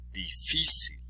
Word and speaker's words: difícil: Difícil, difícil.